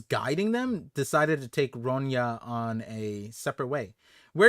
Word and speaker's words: Ronya: Someone said it's pronounced Ronya. Okay. Oh, Saeed. There you go. Ronya. Damn. I was gonna say Ronha.